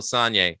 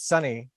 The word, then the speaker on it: Sonye: Again, I first became aware of Michael Sonye, aka Dukey Flyswatter. I gotta correct you. I believe it's Sonny, although you did say it phonetically.